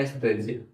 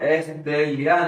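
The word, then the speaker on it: estrella: और last word एस्ट्रेलिया एस स्टेजिया एस्ट्रेजिया last word लिखा है एस्ट्रेजिया है ना एस याद रखिए जो डबल एल है उसको स्पेनिश में ज पढ़ते हैं।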